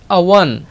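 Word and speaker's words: עוון: इन the Hebrew language it इज अवन और वो है अवन अवन अवन so which is about आइन which is silent आइन जो कि है silent we come to the point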